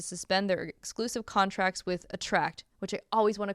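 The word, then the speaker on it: Attrakt: an injunction to suspend their exclusive contracts with attract which I always want to call artat because it's spelled stupid it's spelled a r a KT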